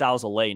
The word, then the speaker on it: Alzolay: I believe it's Alzolay now. I think he changed his pronunciation.